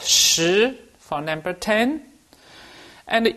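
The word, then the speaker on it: 十: one horizontal and a one vertical so it's pronounced shi for number 10 and e is just one simple horizontal stroke and it's pronounced e so e for number 11.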